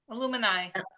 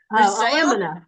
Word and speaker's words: Alumina: Illumini. Illumini? Okay. Oh, thank you. Alumina. Yeah. Alumina. I'm sorry. Alumina. It depends on what state you live in. That's right. Gently removes the dead surface cells. Oh, my word. Alumina. Sorry, I said it wrong.